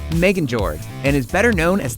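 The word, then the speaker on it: Megingjörð: in civil war as for Thor's belt it's pronounced Megan George and is better known as the belt of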